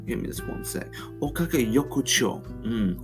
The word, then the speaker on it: Okage Yokocho: Okage Yokocho. Okage Yokocho.